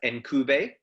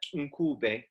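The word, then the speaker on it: Ncube: And I always said the name as Nkube, but on my narrative therapy course, I got told that actually the correct pronunciation is something like Nkube. And I'm clicking it.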